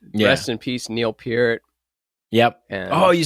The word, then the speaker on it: Peart: rest in peace, Neil Peart.